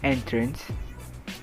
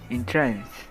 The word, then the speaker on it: entrance: to pronounce this word the first way is entrance the second way is entrance the first example is